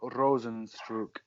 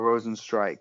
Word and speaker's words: Rozenstruik: Jairzinho Rozenstruik is how you say it, or Rozenstrike, one of the two.